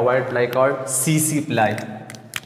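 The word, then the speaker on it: tsetse: So trypanosoma ब्रोसाई causes a डिजीज called sleeping sickness, it is transmitted by a white fly called CC फ्लाई, ये T silent है, सीसी टी एस ई सी T silent है, सीसी फ्लाई एक फ्लाई है।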